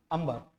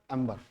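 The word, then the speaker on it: amber: अंबर। बहुत सारे पढ़े लिखे विद्वान इसको एम्बर भी बोलते हैं।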